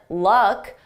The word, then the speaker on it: luck: Notice with lack, we have a longer sound a more open mouth position and luck. My mouth is closed, because this is more of a schwa sound in my throat.